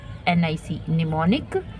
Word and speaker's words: mnemonic: से स्टार्ट होती है, M यहाँ साइलेंट है ना, तो M से स्टार्ट होती है, MNEMONIC, निमोनिक।